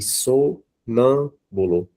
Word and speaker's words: sonâmbulo: E sonâmbulo. Né? Então, o nã, que é a sílaba mais forte.